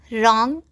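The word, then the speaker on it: wrong: उच्चारण वाह होता है, लेकिन जब किसी वर्ड में W के बाद R हो या W के पहले S हो तो W का उच्चारण नहीं होता है। W के बाद R हो या W के पहले S हो तो W साइलेंट रहता है।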